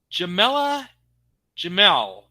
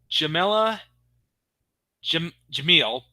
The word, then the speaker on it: Jamila Jamil: It turns out that the voice of Asenka was performed by Jamila Jamel. I'm probably mispronouncing the name. I'm sorry. Let me try that again. Jamila Jamil.